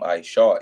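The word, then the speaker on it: עשו: And it says, and they called his name Ishawa, Esau. That's how you say it, Bahalashwan Kodash in the Holy Tongue.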